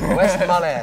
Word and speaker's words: Westmalle: Don't forget the E, man. I'll never forget the E again. It's not silence. All right, Westmalle.